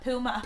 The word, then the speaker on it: Puma: How do you say Puma? Puma.